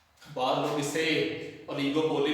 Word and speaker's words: oligopoly: बाद लोग इसे ओलिगोपोली भी पढ़ते हैं, तो आप लोगों ने कोशिश कर रही है कि आप लोगों का प्रोनाउंसिएशन ठीक रहे, दैट इज ओलिगोपोली।